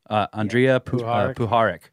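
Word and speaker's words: Andrija Puharich: Andreja Puharik.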